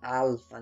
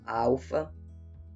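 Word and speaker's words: ἄλφα: Então essa letra aqui é a letra alfa, ou alfa, né? A gente pronuncia o L com som de U, mas na verdade o L não tinha som de U, né?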